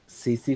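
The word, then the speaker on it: tsetse: तो क्या बोलते हैं, प्रोनाउंस कैसे करेंगे बताओ, बताओ भाई। सीसी फ्लाई क्या बोलते हैं इसे? सीसी फ्लाई बोलते हैं।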